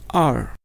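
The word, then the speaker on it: 二: And second word is fourth tone, this is R, R.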